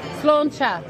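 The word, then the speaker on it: sláinte: time what was it how you say it slona SLA okay SLA SLA is Irish is a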